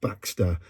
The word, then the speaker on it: Baxtr: They're a brand new band called Baxter, and that's spelled Baxtr.